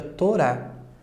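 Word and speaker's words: תורה: está na letra aqui ele é mudo aqui no caso então o nosso transliteramos pela letra h não fica Torá nós temos aqui a palavra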